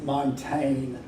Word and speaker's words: Montaigne: the name of month Montaigne and since I didn't know for mo AMT AIG any the French have too many letters for the way they pronounced their words so this is Montaigne